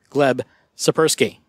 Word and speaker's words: Gleb Tsipursky: David O'Connor but I do have special guests gleb supper ski and I checked and I did actually pronounce that correct you did thank you okay